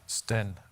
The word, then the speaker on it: Stan: Stan, but that's okay. Stan. Yeah. I should have pronounced it Stan, not Okay, Stan.